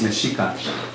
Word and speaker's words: Mexica: really specifically mexicanos mexicans the word mexican by the way is correctly pronounced meshika like the state of michigan there's michigan and so